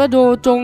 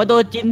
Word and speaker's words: โดจิน: พี่ เ เขียน ว่า โดจง เนี่ย ใช่ ไม่ โดจง มั้ย ไม่ ได้ โดจง พี่ มัน อ่าน ว่า โดจิน พี่ อ้า เหรอ เออ